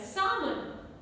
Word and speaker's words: salmon: Salmon, L is silent.